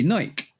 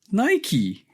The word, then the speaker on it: Nike: Greek goddess of victory whose name is Nike. Mhm. So even though it's written like Nike, the whole concept meaning behind it is the reason why you call it Nike rather than Nike.